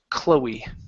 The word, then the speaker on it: Chloe: that you know okay this name is pronounced Chloe Chloe oh okay yeah it's